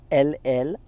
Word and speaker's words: Guillain-Barré: GUILLIANBARRE is pronounced as Guillian Barre.